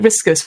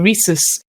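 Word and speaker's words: Risus: on called uh recess i called it riskus for the whole podcast and i had one person say i think you'll find it's pronounced this and i was like oh okay so reese's uh is it's very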